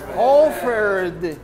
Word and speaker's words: offered: Offered. Offered. Because my final sound, I'm talking about the final sound when we pronounce the verb, not when we write it.